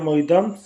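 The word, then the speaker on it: মৈদাম: बारे में तो देखिए मैदान यानी जिसका सही असमिया उच्चारण होता है महिदम भारत के महत्त्वपूर्ण मध्यकालीन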